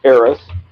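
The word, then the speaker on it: Eris: chaos and confusion and her name was AIS spelled e r i s and I said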